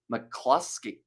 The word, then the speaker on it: McCloskey: come on France and McCloskey pronounced McCluskey oh did I say it wrong have I said a Euro or I said an O rather than a you sorry about that McCloskey a clip now now